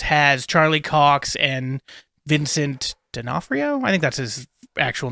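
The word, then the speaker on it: D'Onofrio: Charlie Cox and Vincent denafo I think that's his actual name the guy who plays F yeah it's Vincent I can never pronounce I think it's denafo um but they're sitting at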